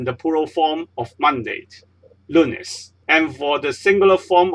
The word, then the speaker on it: lunes: the second last symbol for example lunes you don't say Loonette is lunes the stress is undone second last syllable here so once again